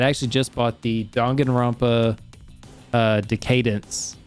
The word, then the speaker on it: Decadence: as I had actually just bought the Danganronpa Decadence, or yeah, Decadence is how you say it.